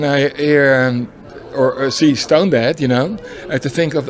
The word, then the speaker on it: Stonedead: when i stoned there they said no you're pronouncing it wrong it's stone dead what is my that's